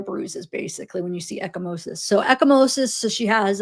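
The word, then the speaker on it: ecchymosis: So, echimosis, pronounced echimosis, is the the medical term for a bruise.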